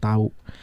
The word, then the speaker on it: tahu: I'm gna explain a little bit about tahu. There's two. If you say if you pronounce it with the H letter, you will pronounce it as tahu.